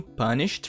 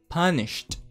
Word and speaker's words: punished: Então ele não vai pronunciar esse E. Ele vai falar punished.